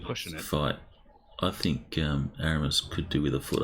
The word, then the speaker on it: Aramis: But I don't actually know, but I'm imagining the French pronunciation would be Eremi, but Aramis, I I'm like not that better.